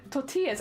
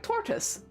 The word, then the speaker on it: tortillas: I made toor to I keep saying it wrong tortillas it's cuz I read Tor and I'm like toris I made toris I